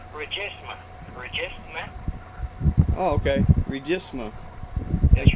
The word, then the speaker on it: Regisma: Gene Regifa? How do you pronounce it? R-E-G-I-F-A. It's R-E-G-I-F-M-A. M-A. Oh, M-A. And how do you pronounce it? It's Regisma.